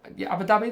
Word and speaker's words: Abu Dhabi: Alaska, Abu Dhabi, Abu Dhabi, that is how you say it.